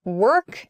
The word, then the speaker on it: work: walk work and walk the problem here is the vowel sound so work has a very like kind of deep uh a deep feeling about it it's like in the throat work it's a it's like making an eer sound almost work but your your mouth is an opening very wide your mouth is